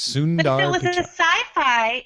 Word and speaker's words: Sundar Pichai: That one you can just pronounce it the way it looks. Sundar Pichai.